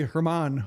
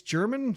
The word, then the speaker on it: German: I'm under the impression it's German, like the language.